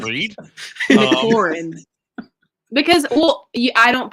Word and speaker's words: McLaurin: say it in a way that I don't pronounce it. McLaurin. Okay. You got it. Yeah. So how do you say it? Can you not read? McLaurin.